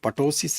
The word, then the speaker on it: ptosis: This drooping eyelid has got a name, and that name is ptosis, right? Ptosis name. It is P is silent, so you'll call it ptosis.